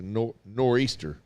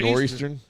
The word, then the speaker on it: nor'easter: probably said it wrong it's a nor'easter Nor'easter what did I call it Northeastern up in Northwest Eastern